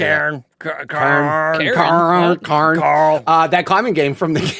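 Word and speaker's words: Cairn: They talk about Karn. That's how you say it. Karn.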